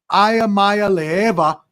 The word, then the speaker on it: Iamaleava: Nico Ayamaya Leva. Boom. Nailed it. I Let's go. I nailed it. Amaya Leva, the Tennessee's red shirt soft sophomore quarterback surprised